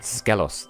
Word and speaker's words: Skelos: Excuse you, it's pronounced Skelos, like Zelos from Tales of Symphonia.